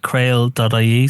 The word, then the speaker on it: CRAOL: Yeah, so the contact places, Creole is at creole.ie, C-R-A-O-L. Sorry, I've been mispronouncing that, haven't I? It's Creole. Sorry, I kind of wrote it down.